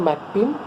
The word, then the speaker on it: McAlpin: नाम है John Elin मैकएल्पिन Berryman. Okay, John Elin ALLYN Elin मैकएल्पिन MCALPIN. Actually इसका pronunciation होता है मैकपिन. So just to make you clear, that's why आई am pronouncing it मैकएल्पिन.